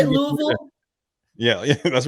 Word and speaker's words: Louisville: coach yeah is that how they say it Louisville yeah that's right there that's right Louisville Louisville no um I think the reality for